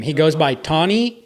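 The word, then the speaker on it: Tane: T or Tony yeah it started with Tony but people would be like Tony and I'm like no ton yeah but it's spelled t a n e so they' see the spelling and call him Tain he would tell people to call him T and some people would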